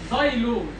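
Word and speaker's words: xylose: قال لك ده اسمه زايلوز. الاكس هنا بتتنطق زد.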